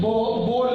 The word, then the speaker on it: Bohr: English में कहीं बोर लिखा होता है, BOHR, ये साइलेंट है। कहीं बोहर लिखा होता है, हाँ बोले लिया, कहीं इसको साइलेंट रखा है। तो बोहर कहो या बोर कहो, देखिए टॉम्सन कहीं लिखा होता